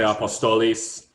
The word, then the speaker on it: Apostolos: Apostolos? Am I saying that correctly? You can say apostolos in Greek. You might say apostolis or apostoli.